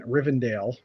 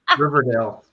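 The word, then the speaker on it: Rivendell: that so even even rivendale did I say it right this time nope no Riverdale Riverdale just remember my Dell is busted over here just remember that okay okay anyway even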